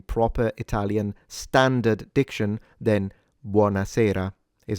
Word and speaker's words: buonasera: What I notice is that sometimes foreigners, for some reasons, pronounce it buonasera with a T. That is incorrect.